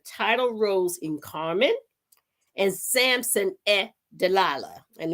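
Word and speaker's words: Samson et Dalila: Samson e deala and the reason why I did the E is because it spelled s a m s o n e t and dalala is spelled D A L I L A so it's done in the native tongue uh writing on January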